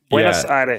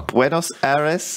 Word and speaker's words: Buenos Aires: I think Buenos Aires. Buenos Aires. You have to have a little bit of a lisp as well. Buenos Aires.